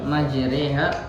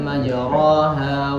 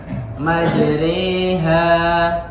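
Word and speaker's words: مَجْرٜىٰهَا: Jadi kalau di Al-Quran lafadznya itu Bismillahi majriha wa mursaha. Baik, ketemu yang Al-Quran? Nah itu ya. Jadi pengucapannya itu dimiringkan. Jadi tidak dibaca Bismillahi majraha wa mursaha, tapi dimiringkan seperti pengucapan majri ya.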